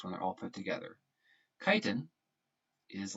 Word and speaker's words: chitin: this word here as chitin that is not the way you pronounce it it's pronounced chitin like flying a kite kite in glycogen is